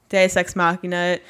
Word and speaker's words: deus ex machina: do what is it do sex machina i think that's it deus ex deus that's thank you it's spelt deuce though deus ex machina and then they're too